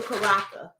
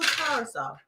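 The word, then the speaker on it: curaçao: and pineapple juice and for my people who can't pronounce it blue caraca stop it that's why people go in the store be like can i get the lucaraca but this blue curacao i think that's how you pronounce it i'm not getting involved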